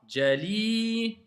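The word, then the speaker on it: جليل: Il y a une voyelle longue, c'est le I, c'est pas A. Jalilun.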